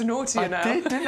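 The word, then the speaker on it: Knautia: And your free gift today is the Nautica macedonica, which is a scabious that we can now pronounce. You said Nautica. So you're adding an extra syllable into Nautia now.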